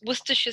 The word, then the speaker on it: Worcestershire: But like people will always try to pronounce it as Worcester. Yeah. And because we have, so the Worcestershire sauce is actually from just up the road from here.